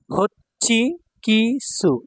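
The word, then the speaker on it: ホッチキস: personal computer ব্যক্তিগত computer হচ্ছি কি সু এটা হলো হো এটা হলো সুটা ছোট করে দেওয়া আছে পরেরটা চি তাহলে চি দুইবার উচ্চারণ হবে হচ্ছি কি সু হচ্ছি কিছু মানে স্ট্রাপ্লার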